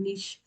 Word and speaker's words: niche: अभी पीछे एक वर्ड किसी ने कहा था, निश मार्केटिंग, निश। तो जो निश है ना, NICHE इसकी बेसिकली स्पेलिंग होती है, आप उस पे काम करें।